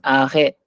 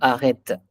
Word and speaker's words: arrêt: And Shalu, this is arrêt, pas arrête. Arrêt de bus. We don't pronounce it T.